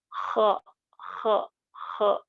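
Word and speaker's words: خ: Yang insya Allah tepat, pengucapan huruf kho, datar saja, khe khe khe, ya.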